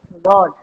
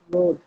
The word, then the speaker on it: rod: What you have to say right now is rod, not road.